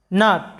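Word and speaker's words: gnat: এরপরে দেখো নাট, যার অর্থ হচ্ছে মশা, নাট। এরপরে দেখো নার, যেটার বাংলা অর্থটা হচ্ছে উকিল, নার।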